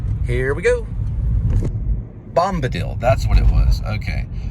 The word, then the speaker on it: Bombadil: Think of dill pickle, and you might get it.